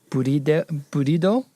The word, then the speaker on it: Bride: It's a bride seat rail, but they could just be using the bride seat rail, or burido is the Japanese pronunciation of that, which is way different.